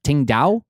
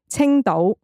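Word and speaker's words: Tsingtao: Ting Dao? That'd be the English. In Cantonese, it is Qingdao.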